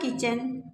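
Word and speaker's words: kitchen: गया है टू द किचन T silent है।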